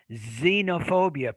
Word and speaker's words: xenophobia: for general perfect nice xenophobia perfect definitely a z there so it looks like when the x is in the beginning of the word in many cases it it's pronounced as a z when the x occurs